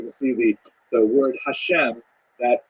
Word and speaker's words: Hashem: songs of God and the word Hashem of course is pronounced with the letter H but there is no